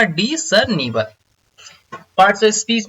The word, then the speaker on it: discernible: इसका प्रोनाउंसिएशन थोड़ा सा ध्यान दीजिएगा, यहाँ पे ऑलरेडी लिखा हुआ है डिसर्निवल, यानी कि डिस एस जो है यहाँ पे थोड़ा सा हिडन है, यहाँ पे प्रोनाउंसिएशन होगा डिसर्निवल।